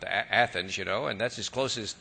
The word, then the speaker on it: Athens: we could all drive up to just outside of Lexington to the little town of Athens, which they pronounce Athens, but we know it Athens, and that's as close as to Greece as we're going to get.